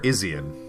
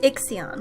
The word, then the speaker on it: Ixion: Ixion or Izion? Ixion. Okay. It's an X. I don't know how to pronounce. I've been saying it. There is no proper pronunciation. There is no voice acting. It's Ixion.